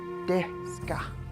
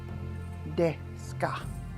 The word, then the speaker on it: Deska: Deska. Deska. Deska. The first syllable says de. The second syllable says ska.